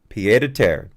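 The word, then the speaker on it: pied-à-terre: the term and again let me get the pronunciation right here let's see um i got miriam webster here p ed piedete okay so i can play it p to tear pier to tear thank you merriam-webster i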